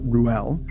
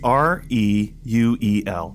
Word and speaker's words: Reuel: going to go with Ruel. Well, I think it's R-E-U-E-L. There are multiple ways to pronounce it. I think you say all the vowels. So you would say Reuel. I think it's Reuel, which would be hard